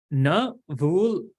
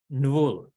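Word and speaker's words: ṇvul: So you can't really say it properly. Nvul. Nvul. It has to roll. But instead, we just give another akara, so we say navul. But that's not actually how you say it. So in case I say that, just forgive me because it's a little easier to say, but it's actually nvul.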